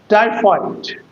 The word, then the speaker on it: typhoid: Typhoid. Typhoid. Typhoid. It is a disyllabic word and the first syllable must be accented.